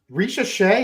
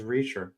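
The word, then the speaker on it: Risacher: Is Risachet, is that the correct pronunciation? Believe it is. Okay. I thought it was Reacher.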